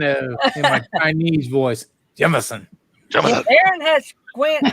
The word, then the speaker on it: Jemison: Just like not Jameson, not Jamerson, just straight Jemison. That's how I pronounce it. Doesn't everybody know that? Wrong. Come on, Jerry. Jim, so easy. It's Jim like a stone, Jim. Yes. Yeah. And then like Dating myself. Edison, like Thomas Edison.